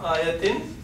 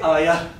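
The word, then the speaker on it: آية: Because ta marbuta is never pronounced. When it comes at the end, or if it is the only word, I don't say ayat. Like this case, I say zalim. I pronounce meme. But here I don't pronounce ta. I say ayah.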